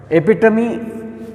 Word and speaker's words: epitome: Epitome meaning also I have written on the board.